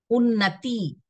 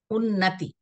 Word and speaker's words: उन्नति: उन्नति, बड़ी पाई नहीं, छोटी पाई। उन्नति।